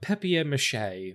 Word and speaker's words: papier-mâché: It looked like papier-mâché.